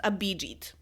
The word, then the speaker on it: Abhijit: exact opposite of her I checked and actually this name is pronounced Abhijit is it's just that simple I kind of feel